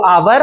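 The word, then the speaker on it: hour: लेकिन नहीं बेटा क्या आप जब आप बोलते हो आवर तो क्या आप एच को भी बोलते हो? नहीं एच तो हमारा साइलेंट रहता है।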